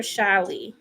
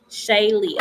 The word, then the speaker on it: Shaye: is it Shaye or shy let me know if I'm saying it right does Ain have romantic feelings for me okay is it Shaye Shaye okay so I was saying it right okay cool so this